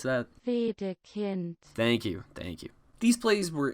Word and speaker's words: Wedekind: How do I pronounce that? Wedekind.